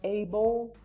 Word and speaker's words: able: If you pay attention to what I just said, when I pronounce able, I think it's like an O, but it's not just a no, like a clear O for us in Spanish.